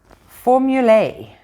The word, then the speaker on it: formula: Formulae, they want us to call it, pronouncing the A like as in day, but no one does. It's just formula.